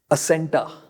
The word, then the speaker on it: Acenta: a viia okay okay asenta asenta a c e n ta pronounce it how you like placenta with the pl silent yeah okay n connector